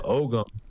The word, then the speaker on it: Ogham: They'll say it's Ogham. You don't say the G. I'm from Kansas and we're pretty literal with our pronunciation. So the Ogham is this type of